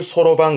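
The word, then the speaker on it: 算盤: 계산을 하기 위한 반이다라는 의미에서 그 주판, 요거를 소로방 그래요.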